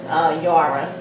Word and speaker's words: Yara: So I felt like Yara was easier, and I would just sound like, you know, Tara, Yara.